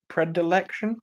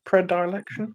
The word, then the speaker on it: predilection: Predelection. Predilection. Yes. Something like I can't pronounce it.